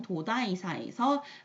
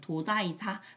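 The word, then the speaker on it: 東大寺: 우리나라 말로 읽으면 동대사, 일본 말로 읽으면 도다이사, 도다이지라고 읽습니다.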